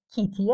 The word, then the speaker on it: کیتی: کودک: تو مرا کتی صدا میکنی در حالی که اسم من کیتی است.